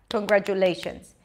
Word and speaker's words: congratulations: so it's not congratulations not every syllable receives the same beat all of a sudden you have a long vowel Le a medium length vowel gra and two short vowels and J and shun so we get this